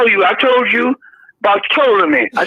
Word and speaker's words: Ptolemy: I told you about Ptolemy. I said, don't pronounce the P with the, instead of pronounce Ptolemy with a T. Leave the P-O. They don't pronounce that.